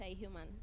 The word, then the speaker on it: Ihuman: like you said and it's a human in case you're wondering how to pronounce the second name human yeah and um short